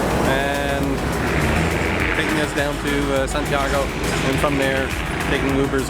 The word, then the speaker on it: Santiago: Santiago. Santiago. You gotta say it like Spanish.